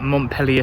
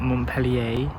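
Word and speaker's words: Montpelier: i was just at montpellier station that's how you pronounce it not montpellier we're not in france we're in bristol and i've come today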